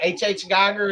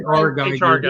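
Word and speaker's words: H.R. Giger: H.H. Geiger? Is that how you say it? H.R. Geiger.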